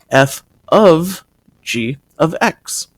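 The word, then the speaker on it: f∘g(x): of X and what this is is it's pronounced F of G of x if we were to write it in the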